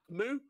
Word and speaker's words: AKMU: The K is AKMU. Silent. AKMU. AKMU. I choose which one is silent. We do appreciate those. K is silent, bro.